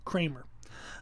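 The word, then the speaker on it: Kraemer: I'm reading through a book by Harry Kramer, and it is last name is spelled K-R-A-E-M-E-R. So Harry Kramer.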